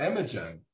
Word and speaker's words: Imogen: And we haven't talked about Imogen, if that's how am I pronouncing it right?